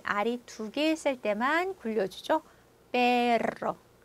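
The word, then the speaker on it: perro: 페로, 페로. 자, 그래서 스페인어의 R이 두개 있을 때그 독립적인 발음, 혀 굴려주는 거, 페로.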